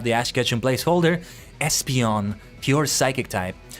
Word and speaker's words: Espeon: Espeon pure psychic type I only learned recently that is pronounced Espeon and not Espeon I I don't know why I thought it was Espeon like it makes more sense Espeon because esper right um so yeah you